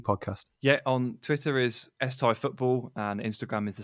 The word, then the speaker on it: Tighe: Yeah, on Twitter is Tighe Football, and Instagram is the same. My surname is spelled Tighe, so every letter following the I is totally and utterly useless.